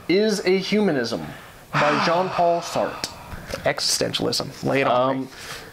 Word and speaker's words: Sartre: I'd assume Arlette Elkheim Sartre. That's Sartre. Is that Sartre?